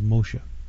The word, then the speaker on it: Moshe: as we pronounce them Moses his actual name was Moshe David was David a